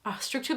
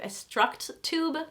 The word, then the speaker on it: Structube: Structube is the French pronunciation, I believe. Structube, I believe is the English pronunciation.